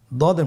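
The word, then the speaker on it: ض: দদের মধ্যে নুক্তা রয়েছে দদ হারাফটি উচ্চারণ করার সময় অবশ্যই তিন আলিফ টেনে পড়তে হবে আপনার সাথে বলুন দ আবার বলুন দ আলহামদুলিল্লাহ দদ হরফটিও মোটা হরফ মোটা করে উচ্চারণ করতে হবে দদের মাখরাজ জিহ্বার গোড়ার কিনারা সামনের উপরের দুই দাঁতের গোড়ার সঙ্গে লাগিয়ে উচ্চারিত হয় আপনারা আবার উচ্চারণ করার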